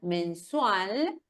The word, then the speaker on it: mensual: Ya tengo preparado el informe mensual, atención a la pronunciación de la L final, mensual de desempeño.